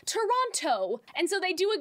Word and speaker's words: Toronto: For example, I'm from Toronto, and a lot of people will say Toronto. They won't pronounce it like Toronto.